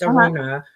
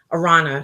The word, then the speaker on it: Arana: it's this girl named araña Lopez it's like he spelled like Aaron you know like with the two A's but it's a runner Arana sorry so she tells me